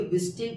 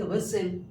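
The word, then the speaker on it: whistle: टी एल से पहले। तो बोलिए विस्टे पढ़ेंगे कि विसल विसल।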